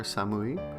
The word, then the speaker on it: 寒: Kan is the onyomi reading, or the Chinese reading.